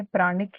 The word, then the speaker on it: प्राण: प्राणा बोलते हैं, बट एक्चुअल में संस्कृत में वो प्राण वर्ड ही यूज होता है।